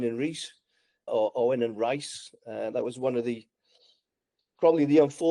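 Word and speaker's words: Rhys: Reese they call Rice.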